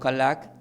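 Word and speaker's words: הלך: la palabra camino que del hebreo significa se pronuncia como halac y del griego como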